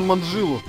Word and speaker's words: Манджилу: А именно прославленную знаменитую Маджиканку Мелудин Дудину Лурунду, сокращенно Манджилу. Чё? Манджилу? Нет-нет, ударение как в конце фразы. Дельфин влюбился в камбалу. Или долбили дятлы по стволу.